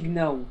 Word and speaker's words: Gnar: moi, je dis Gnaw. Ok. Gnaw. Ouais, ça, parce que le G prononce pas, puis en tout cas, Gnar, Gnar, Gnar.